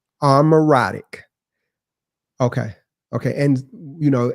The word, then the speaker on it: Amaurotic: Armoratic. Okay. Okay. And you know and pronounce it.